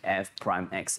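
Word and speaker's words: f′(x): to be f prime x okay it is pronounced as f prime x it represents the same thing it is differentiating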